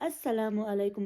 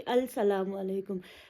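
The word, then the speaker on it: السلام عليكم: दूसरा ये है कि लगाया तो मैंने अलिफ लाम है ना, जब मैंने प्रोनाउंस किया तो मैंने अस्सलामु अलैकुम बोला, ये नहीं बोला कि अल सलामु अलैकुम।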